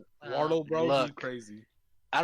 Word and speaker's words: Wardell: Wordle amiibo card? Not that Wordle. Wardle. Like the Y'all are ward. having pronunciation problems tonight.